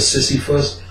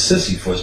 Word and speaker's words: Sisyphus: So the next day I went to work, I looked up Sisyphus, which they said, people think it's Sisyphus, but it's pronounced Sisyphus.